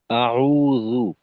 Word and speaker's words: আউজুবিল্লাহ: রাজীম আচ্ছা আসাদুল্লাহ ভাই এই আউজুবিল্লাহ বলার সময় জালের উচ্চারণটা মাখরাজ থেকে আরেকটু স্পষ্ট করা অর্থাৎ আউজু আপনার ক্ষেত্রে অনেক সময় আওয়াজ শুনে অনেকটা এমনটা মনে হয় আর কি এখানে জালের ক্ষেত্রে আরেকটু নজর রাখবেন আউজু আউজু আউজুবিল্লাহি মিনাশ শাইতানির রাজীম।